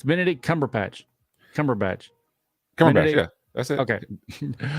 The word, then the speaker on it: Cumberbatch: It's Benedict Cumberbatch. Benedict, yeah. That's it. Okay. I always want to call him like Cumberpatch or something.